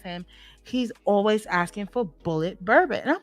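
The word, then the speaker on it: Bulleit: for the first time ask them if they have bullet B you spell it but it's b u l l e i t i got this from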